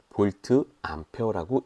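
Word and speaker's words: 볼트 암페어: 단위는 볼트 암어라고 읽어요.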